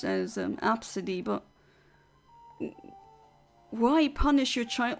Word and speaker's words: Abcde: are legit called AB CDE e but it's pronounced AB absidy why would would you call your child AB B CDE e even if it's pronounced apparently pronounced as um absidy but why punish your child like this and